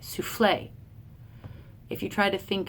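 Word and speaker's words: soufflé: AIIMS than we do with the unstress stress like souffle if you try to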